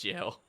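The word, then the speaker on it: gaol: It's pronounced jail.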